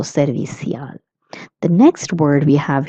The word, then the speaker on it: servicial: Let's look at its pronunciation. It is servicial or servicial. Okay, if you're in Spain, you would say servicial with a little stronger th sound. And if you're in Latin America, you will pronounce ci as s, so servicial.